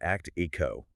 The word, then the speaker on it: ACTIQO: And for those listening, we pronounce that act echo.